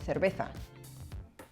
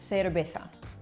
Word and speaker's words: cerveza: So anytime that you have a CE, a CI, or a Z in Spain, it's pronounced like th, right? So I'll say it slowly, cerveza, which is like Claire, cer, all right?